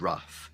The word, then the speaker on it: rough: Okay, so I have the sound uff, so this includes enough, tough, and rough.